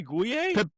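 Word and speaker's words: Gueye: Help me pronounce his name. Pepe is Pepe sa Pepe Gu. Oh, Pepe Gu. Yeah. Yeah. Guay.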